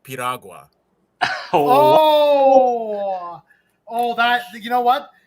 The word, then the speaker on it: piragua: I will say, no, it is pronounced Piragua.